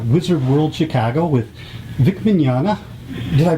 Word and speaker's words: Mignogna: are at the wizard world chicago with vic mignana did i pronounce that name right you nailed it i